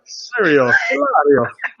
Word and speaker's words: Hilario: Hilario. Sounds like Mario, but hilarious in Italian.